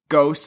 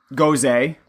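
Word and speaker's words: Gose: this and I say I always say ghosts and I realize that that's not the correct way to say it but I don't care that's how I'm saying goes a is the correct terminology but I don't like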